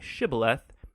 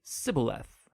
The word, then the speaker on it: shibboleth: it turned out that the ephraimites had grown up pronouncing that word differently so instead of saying shibboleth they would say sybileth when that happened the